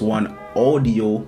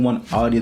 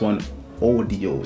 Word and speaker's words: OneOdio: It actually pronounced OneOdio instead of audio. I've been saying OneOdio the entire video, and sorry for butchering the name of this. It's actually pronounced OneOdio.